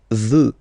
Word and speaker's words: veux: Vouloir, first person, je veux, final X not pronounced.